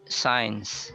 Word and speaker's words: science: Then we have science instead of science, because it's a 2-syllable word, sci and uns. Then the uns is a schwa, so you can remove it. You just connect it directly with the I, science. So it sounds like SIGNS.